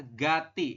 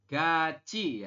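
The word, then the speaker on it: 같이: Anda akan membacanya adalah Gati seperti itu ya tinya kan naik nih ke sini vokal I Tetapi menurut aturan baca nomor 11 Anda membacanya bukan Gati y robun tetapi dibacanya adalah ga gaci ya Jadi kita membacanya adalah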